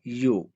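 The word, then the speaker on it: ewe: इसके स्पेलिंग आपको अजीब लग रहे होंगे, لیکن اس کی پروننسیشن ہے یو.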